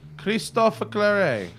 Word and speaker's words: Christophe Claret: Christophe Claret.